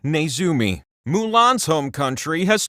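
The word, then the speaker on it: ネズミ: In this country's language, a mouse is pronounced Nezumi.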